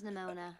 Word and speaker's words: Nimona: The name's Nimona. And how did you? Whoa, that's how you pronounce it.